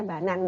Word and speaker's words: banane: tahu pisang itu feminin di pronounsnya banan bukan banane kita baru tahu kalau